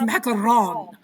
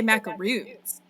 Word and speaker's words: macaron: Macaroons, which I think are Oh. correctly pronounced macaron, but in the US we say macaroons.